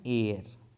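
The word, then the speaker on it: heir: उसमें फिल करना था डिटरमिनर यानी आर्टिकल तो एन होता एन एयर एन एयर माने उत्तराधिकारी होता है।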